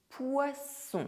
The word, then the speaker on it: poisson: Un désert A desert Un dessert A dessert Du poison Poison Du poisson Fish Un cousin A cousin Un coussin A